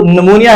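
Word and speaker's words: pneumonia: जो एग्जांपल है वो निमोनिया है तो निमोनिया में भी पी जो है ना वो बोला जाता था अब तीसरा जो एग्जांपल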